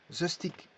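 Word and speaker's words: zestig: Ensuite, on a 16 pour 16, mais pour 60, c'est zestic. Zestic. Alors, zes, bon, c'est 6.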